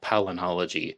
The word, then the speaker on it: palynology: And as I understand, pollen testing is called palynology. It's spelled Palyn, palynology.